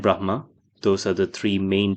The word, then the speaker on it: Brahma: Uh, yeah, I'm actually South Asian myself, so I should pronounce them as Shiva and Vishnu and Brahma.